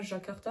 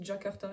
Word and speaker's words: Jakarta: ensuite tu vas voir la lettre J qui ne se prononce pas j comme jouet par exemple mais qui se prononce j avec un D devant comme darta donc Jakarta